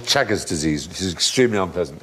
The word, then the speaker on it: Chagas: Causes something called Chagas disease, which is extremely unpleasant. Anyway, Chagas? Not Chagas. It makes you take your clothes off on Channel 5. No, it's not. It's Chagas, not Chagas.